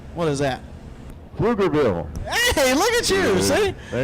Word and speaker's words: Pflugerville: Hey, can you pronounce that correctly? What is that? Pflugerville.